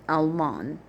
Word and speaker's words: Almon: So Anathoth, and Almon, like almond, but with a D on the end.